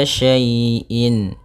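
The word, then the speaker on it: شيء: Pada bacaan wa kulla syai'in, syai' di sini ada fathah bertemu dengan ya sukun. Maka apabila ada huruf ya sukun didahului dengan harakat fathah, ini kita namakan dengan bacaan lin, yang mana ya dalam membacanya lembut.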